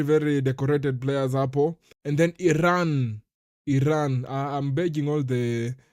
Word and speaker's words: Iran: It's pronounced Iran, not Iran.